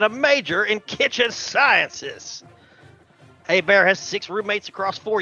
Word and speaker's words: Hebert: now here comes Bobby a bear it's looks like Hebert but it's pronounced a bear who was undrafted out